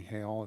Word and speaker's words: Hale: And just for clarification, it's spelled, it might sound like Hale, but it's actually Miss Hale. Emily Hale is actually how you pronounce that.